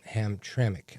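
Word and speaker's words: Hamtramck: these uh councilmen from Ham Tremik. I guess it's pronounced Tremik. I said ham because there's no I. It's just ham tram cke.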